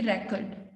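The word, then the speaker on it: record: बोलेंगे show me द रिकॉर्ड, show me द रिकॉर्ड। तो उसमें हमने आर पर साउंड पर स्ट्रेस दिया, फर्स्ट सिलेबल पे दिया, तो that means that is noun, show me द रिकॉर्ड।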